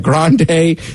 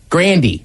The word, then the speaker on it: Grande: I still believe her name is Ariana Grande, but I guess now it's Grandy. Rhymes with candy.